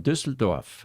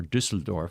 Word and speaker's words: Düsseldorf: And that is a U with an umlaut at the top. That's why it's Ü. If it was, in the German language, you have to pronounce every letter, consonant and vowel in only one way.